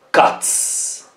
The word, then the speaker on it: cats: Quindi il verbo finisce con una T, un suono forte, e quindi si pronuncia una S. Cats.